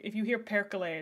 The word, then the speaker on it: perkele: Perkele, I believe. Perkele. I loved learning Finnish. I learned it for a little while. It's spoken entirely phonetically, so it's great. Is there any way to apply for staff? Currently, no. We just added 2 people to our mod team literally today. So, thank you for shaming. Perkele is like, shit, fuck, you know? Spelled with 3 E's, by the way.